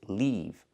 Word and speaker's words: leave: words the first word is live with the short I sound like this is live I like to live in the moment and the second word is leave with the long e sound like green beans leave